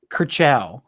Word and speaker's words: Kershaw: Is it Kershaw? Kershaw. like in Cars.